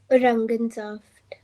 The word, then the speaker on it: Orangensaft: Orangensaft. ज नहीं बोलना, ग बोलना। औरंगनजाफ्ट। Orangensaft.